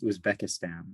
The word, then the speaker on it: Uzbekistan: he's both yeah okay rhymes rhymes with check in the middle of the word and formerly russian okay